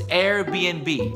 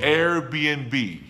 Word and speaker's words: Airbnb: A lot of people get confused when they see that little N between the B's. The N actually means and. So it's Airbnb. Airbnb.